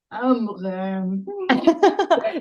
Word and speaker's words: Amrein: Amrin. Sí, porque es medio suizo. Soy medio Eh, suiza. es medio suiza.